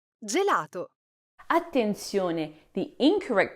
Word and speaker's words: gelato: It is gelato. Attention. The incorrect pronunciation here is gato.